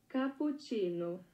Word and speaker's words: cappuccino: do you see capuccino how do you say capuccino Portuguese it's capucino capucino okay capucino basically Portuguese it's